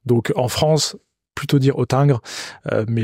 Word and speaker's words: Hottinguer: différente d'ailleurs euh est autingre voilà donc en France plutôt dire otingre mais les deux se comprennent très bien la banque otingre est